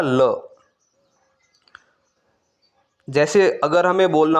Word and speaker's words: le: वहां पे यूज़ होगा ल एल ई इसका प्रोनाउंस क्या रहेगा ल जैसे अगर हमें बोलना